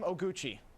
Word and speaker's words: Oguchi: right, first name Oguchi.